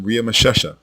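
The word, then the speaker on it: Ramesses: once does the name riia mesha which is the correct way to say Ramsay ever appear in the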